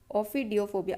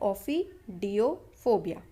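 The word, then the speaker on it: ophidiophobia: ऑफिडियोफोबिया, अगर ये प्रोनाउंस करते नहीं बने तो ये जो डैश लगा रखे मैंने वहाँ पे वेट करना है आपको. ठीक है, ऑफिडियोफोबिया.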